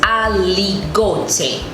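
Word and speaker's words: Aligoté: So the I is sounded as E. So it is aligote. The E is E.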